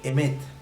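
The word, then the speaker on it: אמת: texto bíblico 432 veces se pronuncia en hebreo emet y está escrita con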